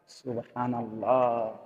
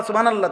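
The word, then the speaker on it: سبحان الله: এটা কই হা কই আপনি যে কইলেন সুবহানাল্লাহ সুবহানাল্লাহ তো হা উচ্চারণ হইছে এটা তো এটা জিকির হইলো তো সুবহানাল্লাহ কইয়া যে থাইমা গেলেন তো লামের মধ্যে থাইমা গেছেন তো আল্লাহ শেষে যে আরেকটা গোল হাসে আছে এটা কই সুবহানাল্লাহ সুবহানাল্লাহ সুবহানাল্লাহ তো হা উচ্চারণ কই শেষের হাটা কই তাইলে এইজন্য বললাম আল্লাহ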